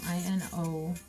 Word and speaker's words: Inositol: Inositol? How do you say that? Insulin? No, Inositol.